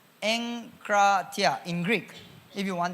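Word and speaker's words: ἐγκράτεια: So the word self-control is from the Greek word EGKRATEIA, pronounced as enkratia. Enkratia in Greek, if you want the Greek.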